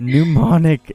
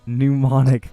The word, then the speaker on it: mnemonic: that word devices that's not okay to say pneumonic mnemonic Carla mnemonic devices I think yes it does